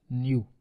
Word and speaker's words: nu: distribution so now we Define chi-square distribution let new be a positive integer this symbol is known as New pronunciation is new so suppose new is a positive integer or